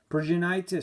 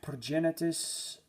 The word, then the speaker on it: Progenitus: Progenitus, some call him Progenitus. Yeah, how do you even pronounce this? I pronounce it as Progenitus.